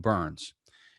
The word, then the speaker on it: Byrns: And so it's very ironic that my last name is pronounced Byrns.